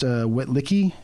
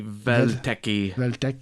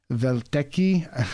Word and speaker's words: Welteke: It's Welteke. The W's are pronounced like V's in German, so it might be Welteke or something like that. And Welteke.